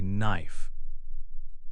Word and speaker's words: knife: This is also true for words like knee, say knee, and knife, say knife. Another example is knock, like when you knock on a door. The K is silent in all these words.